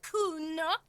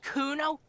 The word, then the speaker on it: Kuno: Kuna, the little isn't having it. No, I didn't. It's Kuno.